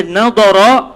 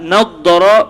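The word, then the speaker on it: نضّر: Jadi kata Sayyidina Imam An-Nawawi, kalimah naddara itu boleh dibaca dengan dua cara baca. Sama ada nadara biduni tasydid wa naddara bitasydid. Sama ada dengan dibaca sabdu atau tanpa sabdu. Nadara wa naddara. Cuma dibaca secara sabdu itu yang banyak diriwayatkan.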